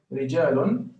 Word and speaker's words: رجال: Okay, so while I'm pronouncing this rijalun, I'm not making the clear like I'm pronouncing with the shape of the mouth of a sad.